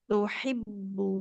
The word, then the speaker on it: تحبون: Tuhibbu, oh iya, Nah, jadi bukan tuhibbu, tuhibun, oh tapi iya, iya. tuhibbun.